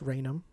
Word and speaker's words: Raynham: I believe it's pronounced Raynham.